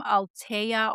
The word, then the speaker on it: Alteya: It's from Altea Organics. It's spelled Alteya, and it was on sale at Whole Foods, so I definitely wanted to give it a try.